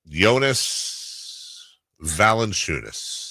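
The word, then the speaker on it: Valančiūnas: teammate did last night yonas Valen chunis yes that's how you say it that ex you say yonas valent no other way to say there is literally never heard any other way Jonas Eno wild sauce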